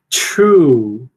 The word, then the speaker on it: true: Então, ó, true. True. Quando você tem um T e um R, você tende a palatalizar um pouquinho, certo?